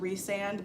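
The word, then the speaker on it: Rhysand: I believe his name is supposed to be pronounced Rysand, but I don't like that. I always call him Rysand.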